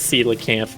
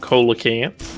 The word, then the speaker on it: coelacanth: Oh, it is pronounced coelacanth, not coelacanth. Yeah. I know that because of Jeopardy.